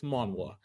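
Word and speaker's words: manhwa: this by the way it's not manga like in South Korea it's manwa they it's the letters are it's spelled differently but we'll see I'm looking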